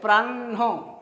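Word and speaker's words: প্রাহ্ণ: ঠিক আছে, তাহলে পয়ে রফলা আকার প্রা আর হয়ে মূর্ধন্য ন, তাহলে প্রাহ্ন, প্রাহ্ন আগে মূর্ধন্যর উচ্চারণ পরে হয়ের উচ্চারণ আসছে।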